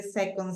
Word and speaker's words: second: is a noun second so remember that the rule says that most of the nouns are going to be on the first syllable so which one do